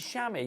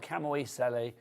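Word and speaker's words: chamois: like Shamy leather that's that's spelled c h a m o i s so maybe it's used to call it say Shamy that's color sh sham what is it shamwa it's not camoi S I think it's time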